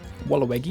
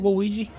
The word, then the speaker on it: Waluigi: Walawgi. Is this your Waluigi? What you mean? That's how you say it, Waluigi.